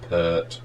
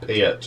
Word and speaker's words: Peart: In comes Neil Peart, or Peart, or how you pronounce it, depends where you come from.